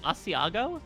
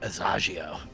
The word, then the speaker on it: Asiago: You said Asiago. Is it Asiago? Asiago. Asiago. I said Asagio. That's That's how really fun. overt That's way I more am. fun than Asiago.